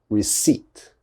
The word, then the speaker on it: receipt: we do not pronounce the p so it's receipt receipt never never never never say receipt or something like that that is definitely wrong